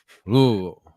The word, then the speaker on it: Louisville: So if anybody has not been to Kentucky and learned what Kentucky time is, Louisville.